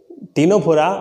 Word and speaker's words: Ctenophora: Dear students, here the pronunciation of टीनोफोरा इज टीनोफोरा, बट द in writing C is silent.